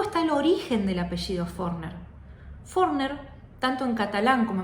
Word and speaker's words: Forner: de valencia luego está el origen del apellido forner forner tanto en catalán como en valenciano significa panadero y se pronuncia furner la pronunciación correcta del apellido es Así que